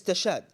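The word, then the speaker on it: تشاد: you're gonna sell stud you pronounced it wrong I will say to you excuse me don't correct my Arabic this is tashad in Arabic Chad yeah if you want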